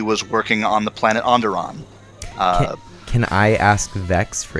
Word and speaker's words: Onderon: How would I pronounce that? Yeah, Onderon.